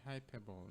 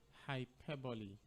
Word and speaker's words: hyperbole: Some people normally say hyperbole. No, the word is hyperbole. Hyperbole spelled Hyperbole. Hyperbole spelled Hyperbole. The word is hyperbole and not hyperbole.